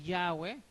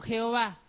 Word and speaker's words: Yahweh: de esta religión, ¿no?, que la pronunciación correcta, ¿no?, es el nombre Yahweh, sin embargo ellos prefieren: no, mejor nos quedamos con Jehová, porque al final ya